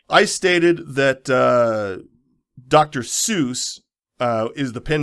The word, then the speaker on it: Seuss: ah so he he actually liked pronunciation of Seuss better than soy and ran with it for most his life I find it unlike